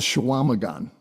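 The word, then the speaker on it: Chequamegon: So my daughter went to school in northern Wisconsin on Lake Superior, and up there it's called Shawamagan.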